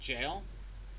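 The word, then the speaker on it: gaol: It's the olden way of spelling it.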